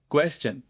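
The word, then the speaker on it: question: एन तो बन गया क्वेश्चन। क्वेश्चन में है च की आवाज क्योंकि टी आई ओ एन से पहले एस लगा हुआ है।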